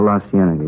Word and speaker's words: La Cienega: Over on, that street out that way, La Cienega. Is that how you say it? Oh, La Cienega, yeah.